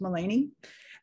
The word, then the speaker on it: Melanie: english i'm known as mullany named after my dad delaney and my mom melinda and they haffed it up spelled it like melanie but it is pronounced mullany and i'm here in